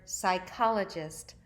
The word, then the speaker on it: psychologists: it in this word the P is silent when you see a P and s together it's gonna be silent and the CH is pronounced like a K this is the word psychologists find it in your